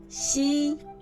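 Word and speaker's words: ㄒ: To pronounce these three notations, we have to clench the front teeth. Ji, ji, qi, qi, xi, xi, ji.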